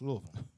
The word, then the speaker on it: Louisville: the uh louisville yes louisville yeah you i don't care how that's spelled it's louisville all right but you see